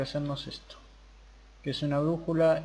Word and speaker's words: brújula: No, ¿cómo se craftea una brújula? Brújula. ¿Esto es una brújula? Generar brújula. Acá está. Brújula con acento en la U.